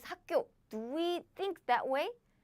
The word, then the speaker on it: 학교: 학교 is easier than 학교, 학교, 학교, 학교, 학교. It happens very naturally. The second word too.